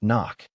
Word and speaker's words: NOC: They offer you a transfer after 3 years, not to another embassy, to something called non-official cover, NOC, pronounced knock.